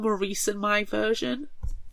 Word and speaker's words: Maurice: And he can or Morris, as I've heard some people pronounce what would be Maurice to an American.